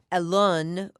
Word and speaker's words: Alon: your name because yeah alone yeah that's how your mom pronounced it yeah was just